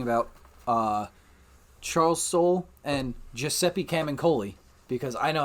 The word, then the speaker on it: Camuncoli: we were talking about Charles Soule and Giuseppe cam and Koli because I know how to say his name